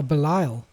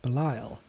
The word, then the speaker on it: Belial: So Ambush, it's Bial, I guess that is. Oh, Belial. Belial, is that how you pronounce it? Yes, Belial.